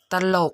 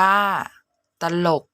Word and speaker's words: ตลก: หลัก ใน การ จำ พยางค์ หน้า ออก เสียง อะ กึ่ง เสียง พยางค์ หลัง ออก เสียง หอ นำ ตัว อย่าง คำ อักษร